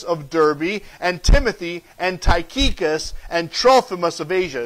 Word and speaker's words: Tychicus: Yeah, he mentions him one more time, and she actually said it the right way, Tychicus, right? I will send Tychicus to you. If you say it with an accent, you'll pronounce it right.